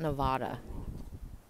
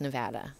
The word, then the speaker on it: Nevada: Nevada yeah it's not Nevada it is pronounced Nevada correct I yeah it's one of my little pet peeves is when no it's not Nevada it's Nevada if California breaks off